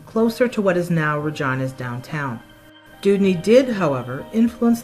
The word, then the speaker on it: Regina: Contrary to popular belief, the pronunciation Regina was an acceptable pronunciation of the word, which today is often pronounced Regina in other contexts.